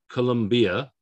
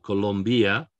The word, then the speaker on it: Colombia: a vowel okay espana colombia what we have here is an i before a vowel so that i is like a y it's not columbia or colombia is colombia right that i is